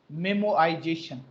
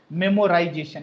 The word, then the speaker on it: memoization: Plus memoization. Memoization. Please don't pronounce memorization. It's a memoization.